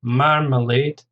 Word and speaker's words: marmalade: Marmalade, stress on the first syllable, 3 syllables again, marmalade.